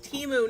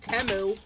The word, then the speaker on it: Temu: they're freaking gaslighting you the name of the company is timu not temu I'm going to be